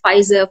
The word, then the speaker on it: Pfizer: we all know pfizer everybody is like fizer fi it's fizer the p is silent you know a lot of pronunciations you know but it's fizer so um then we